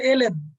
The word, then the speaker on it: ln: এটা কিন্তু এল এন, উচ্চারণ হবে এল এন।